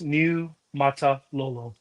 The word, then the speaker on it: Niumatalolo: So, it's just breaking in three parts. Niumatalolo, or Niumatalolo. Polynesian names, there's a lot of letters, but there's no silent vowels. I mean, you just pronounce all the syllables.